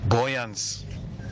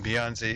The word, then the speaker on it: Beyonce: Like, for example, there was a time my dad said, buoyance. Boyance is trying to say Beyonce. So instead of saying Beyonce, he said buoyance.